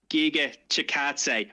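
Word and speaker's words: Giga Chikadze: The correct way to say it is Giga Chikatse.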